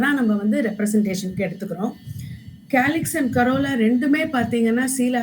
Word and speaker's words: calyx: அதனால் கேலிக்ஸுங்கிறது ப்ரொனவுன்ஸ் பண்ணுறது வந்து கே மாதிரி சவுண்ட் ஆகிறதுனால we take it ஆஸ் கே.